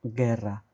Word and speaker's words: guerra: And also guerra, G-U-E, G-U-E, guerra. We don't pronounce the U.